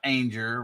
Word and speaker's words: Anger: So that is Jennifer Anger, Rhymes with Danger, which previously, now it's Good Times Homestead with Jen and Steve.